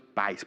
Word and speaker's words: pi: en particular cocinaban algunos pies. ¿Por qué? Porque los pies, la palabra pi en inglés se pronuncia pie, entonces dentro de las actividades se hacían este tipo de cosas.